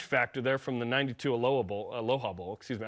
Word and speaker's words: Aloha: Plus, there's some, revenge factor there from the 92 Aloha Bowl. Excuse me. I pronounce it like the city in Oregon.